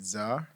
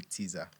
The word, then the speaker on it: Tzar: I go by Zar. TZAR. The T is silent because Okay. I get a lot of people calling me Teaser, Okay. and it's Zar, not Teaser.